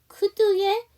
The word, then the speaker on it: could: could의 L 사운드 묵음이에요. could, would, should 다 L 사운드 묵음입니다.